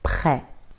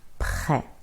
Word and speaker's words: prêt: Or in prêt, prêt. R is not easy to pronounce, but if you keep practicing, you get better at it.